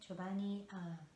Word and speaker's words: Chobani: So my very first smoothie was berries and banana and chobani, that's how you pronounce it, chobani, non-fat plain Greek yogurt.